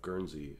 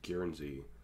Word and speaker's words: Guernsey: time and I also mispronounced the isle of Guernsey as guarantee obviously looking back makes